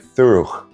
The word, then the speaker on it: thorough: For instance, the word thorough sounded like thuruch.